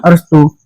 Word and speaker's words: अरस्तु: English में Aristotle और हिंदी में अरस्तु। उच्चारण सही से कीजिएगा। इंग्लिश में अरिस्टोटल और हिंदी में अरस्तु।